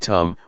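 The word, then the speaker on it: ธรรม: we see this now the dhamma in Thai pronounced in the same way as the word tum which means to do refers to Nature that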